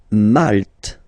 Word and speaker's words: Malte: Malte. Same thing here, you don't insist on the final E.